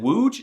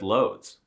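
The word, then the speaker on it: Łódź: Anyway, I guarantee you can pronounce it without my help. Give it a try. Seriously, say it out loud. If you said wooge, you're correct. Congratulations. See, it was easy. But if you said loads, you need to get yourself checked out.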